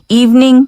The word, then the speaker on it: evening: evening 발음도 꼭 주의하셔야 되는 건 V 발음 있어가지고요. V, evening. Alright, great job.